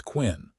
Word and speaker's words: Quinn: Name is Thomas Quinn. I work at the Double J Ranch about 5 miles west of Galesburg. He pronounced it like Quincy without the sigh, and there was something reassuring about the straightforward way he introduced himself.